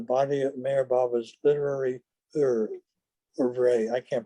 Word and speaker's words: oeuvre: Without a doubt, creation and its causes will claim a major place in the body of Meher Baba's literary oeuvre. I can't pronounce that French word. Oeuvre.